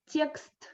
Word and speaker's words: текст: Ye is the sound that we pronounce with a smile, and we usually have ye after yes, like text after soft consonants. So a soft consonant plus ye. Текст, тебя, тема, реки, and so on.